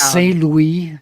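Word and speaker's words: St. Louis: a mud mud cake first of all it's pronounced s Louie because it was founded by French per trators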